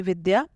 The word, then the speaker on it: विद्या: द्य बना है द और य से, द और य जोड़ने से द्य बनता है, और उच्चारण के लिए इसमें अ जोड़ दिया जाता है। इसका उदाहरण है जैसे विद्या, विद्या, व कैसे बना, व में ई जोड़ने से यहाँ पर वी बना।